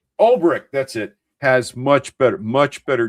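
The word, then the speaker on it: Ulbrich: Jeff, I'm mispronouncing his last name. Olrich. Olrich, that's it.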